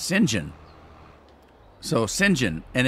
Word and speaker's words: St John: someplace because in Europe uh St John is pronounced singen so singen and it's and it's uh it